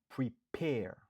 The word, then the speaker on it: prepare: 2 syllabes, nous accentuer sous deuxième nan. Prepare.